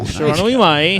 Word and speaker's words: Shiranui Mai: Mai Shiranui. Shiranui Mai. Shiranui Mai. Yeah. Shiranui Mai.